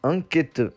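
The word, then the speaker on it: 앙케트: Et le mot se dit enquête. Voilà, c'est pas compliqué. Mais quand on le lit séparément, ça peut devenir assez compliqué. Ça s'écrit ang, que, te.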